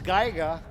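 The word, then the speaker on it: Geiger: Meaning g e i g e r pronounce as gaiga counter.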